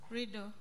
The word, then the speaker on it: RWYDO: The ones that you, your organization is how do you pronounce it? RWYDO? Rido. Rido.